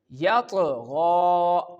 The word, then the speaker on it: يطغى: Same like others, we perform the Qalqalah on this word and when we pronounce this word, you can feel the sound is bouncing. Understand? يطغى يطغى.